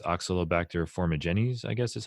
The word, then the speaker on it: Oxalobacter formigenes: a strain of bacteria called, I think it's Oxalobacter formigenes, I guess is how you say it. And it's naturally present in the gut to my understanding, and it helps break down oxalates. Right. Oxalobacter formigenes.